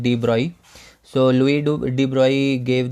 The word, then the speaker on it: de Broglie: Okay, it is written like de Broglie, but it is pronounced like de Broglie.